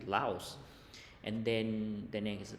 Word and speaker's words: Laos: า อ อ ก เ สี ย ง Laos น ะ ป ร ะ เ ท ศ